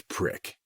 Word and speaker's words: PRC: cage and ask for a prc4 pronounced as prick I knew from training